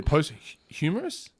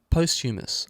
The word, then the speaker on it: posthumous: So post-humorous? How do you say it? Oh, posthumous.